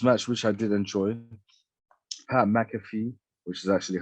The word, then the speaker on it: McAfee: anyways the next match which i did enjoy mcafee which is actually how you say his name